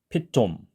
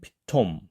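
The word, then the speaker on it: פיתום: 그래서 실제로이 피톰이라는 단어를 히브리식으로 읽어보면 완전히 된 소리도 아니고 그렇다고 톰 이런 소리도 아닌 피톰 피톰 피돔 완전히 또는 아니죠 그렇지만 그렇다고 토도 아닌 피톰 피톰 제가 사실 잘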